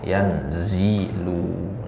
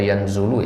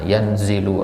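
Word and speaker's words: يَنْزِلُ: yanzilu enggak ada harakatnya kita tahu bacanya gimana kasrah yanzilu Nah kalau kita baca yanzulu Ya salah misalkan hadis tentang turunnya Allah di sepertiga malam terakhir nah yanzilu rabbuna taala bukan yanzulu ya namah berarti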